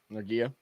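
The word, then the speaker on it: Nortje: says his name noia noria yeah you pronounce it like Nokia if it's AFC that's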